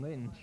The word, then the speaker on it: Lynch: far mostly it's been Clinton Lyn left or Clinton Lynch excuse me get the pronunciation right he's going to be